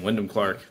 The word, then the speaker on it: Wyndham Clark: not been paying attention yeah that's how you pronounce his name Windham Clark but he uh he tore it up all